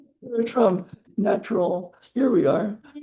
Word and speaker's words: Veratrum: Veratrum Veratrum It's a natural medicine. It's false hellebore, which is actually a very toxic plant, but that's why you got to respect it. Veratrum natural Here we are.